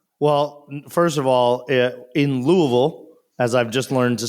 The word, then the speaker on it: Louisville: not much yeah well first of all in Louisville as I've just learned to say it correctly